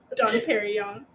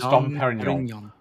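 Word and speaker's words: Dom Pérignon: Don Perignon. Don Perignon. It's Dom Perignon.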